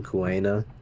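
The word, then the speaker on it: Kuina: The Kuwena saying yes. Is that now the official pronunciation, Kuwena? Yeah, I heard it said as Kuwena, so I'll say it as Kuwena. Because it is Kuwena.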